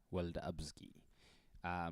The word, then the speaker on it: Welda'abzgi: i am weldabski like amaraji said i'm starting to pronounce my name correctly with the african accent as well i am